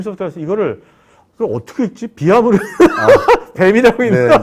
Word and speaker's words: Veeam: 비암으로 뱀이라고 읽나? 네. 그런 것도 많았을 것 같아요. 처음에는. 네, 그죠? 맞습니다. 그러니까 저희 회사의 어원을 좀 설명을 드리면 네. 유럽에서는 VM, 가상머신을 비암이라고 합니다. 비암이라고 말을 하고 그래서 저희는 2008년도에 VM웨어 백업이 없을 당시에 네.